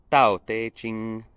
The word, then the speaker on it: Tao Te Ching: te ching and tantra sorry if my chinese pronunciation isn't perfect but it's something very close to tau teiching uh which is a